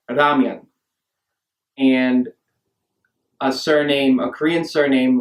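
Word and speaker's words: 라면: So for instance, the beloved noodle dish ramen sounds more like ramyun, and a Korean surname like Ryu is transliterated as Ryu.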